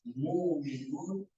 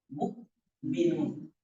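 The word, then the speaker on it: مؤمنون: ini dia disebut Mak kalau kita sebut muminun hamzahnya hilang yang tadi saya baca muminun tidak ada H Mukminun Ah ada Hamzah ini namanya Hamzah Sehingga dalam cara baca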